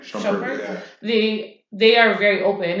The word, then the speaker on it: Shumpert: Shumpert? Shumpert, Yeah.